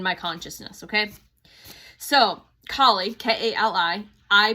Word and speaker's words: Kali: So, Kie K A L I pronounce it Kaye.